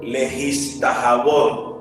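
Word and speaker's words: להשתחוות: La palabra adoración, le decía, viene del hebreo, lehistahabot.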